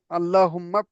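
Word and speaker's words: اللهم: আল্লাহুম্মাফতাহ আবু রাহ মাশাল্লাহ এইযে তাহটা এমনভাবে উচ্চারণ করব যাতে আমার কি গলা দিয়ে বাতাস বের হয় আল্লাহ আল্লাহুম্মা ঠিক আছে আপনার হাটা উচ্চারণ হচ্ছে ঠিক এই হাটা যখনই দেখবেন না গলাটা একটু চাপিয়ে হালকা বাতাস বের হবে আল্লাহুম্মা ঠিক আছে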